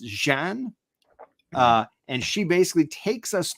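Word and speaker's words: Xi'an: Story time as Karma takes us, and again, her name is spelled XI''AN, which I believe is pronounced Jean.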